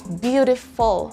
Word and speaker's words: beautiful: correctly say the word beautiful. Again, it's beautiful, full and not fool. The letter U in F-U-L is a schwa, so you don't say fool, instead you say full, full.